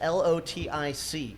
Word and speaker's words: Lotic: and then we'll just spell it out for the listeners. It's Lotic, correct?